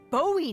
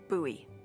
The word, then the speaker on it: Bowie: no warning he pulls out this huge Rusty Bowie knife it's actually pronounced buoy what no it's like the last name like